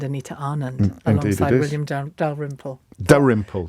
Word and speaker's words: Dalrymple: Dalrymple, the L is silent.